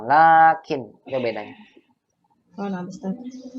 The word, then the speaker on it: لكن: Lakinnya dibacanya tetap panjang ya, Ustaz. Laknya panjang tetap. Laknya baca panjang. Lakin.